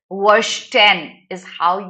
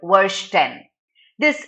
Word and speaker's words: Verstehen: Okay, now this is a German word. Verstehen is how you pronounce the word. Verstehen. This is a sociological concept.